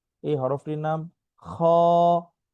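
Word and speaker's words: خ: এই হরফটির নাম খ। খ অল্প টান, কণ্ঠনালীর শেষ ভাগ হতে এটা উচ্চারণ হয়, ঠিক আছে।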